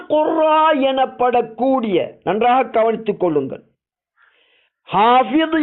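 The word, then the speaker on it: حافظ: ஹாபிது என்ற அந்த அரபு வார்த்தை உருது மொழியின் மேலாதிக்கம் காரணமாக ஹாபிஸ் என்ற உச்சரிப்பிலே எமது நாடுகளிலே கூறப்படுகின்றது.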